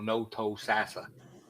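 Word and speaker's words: Thonotosassa: do you say that it's the no-toe sassa spell that t-h-o oh no t-h-o-n-o s-s-a so no-toe sassa i'm like what the hell is it well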